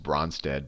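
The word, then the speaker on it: Brønsted: that is the and I don't know the correct you know I always say just bronze dead but if you don't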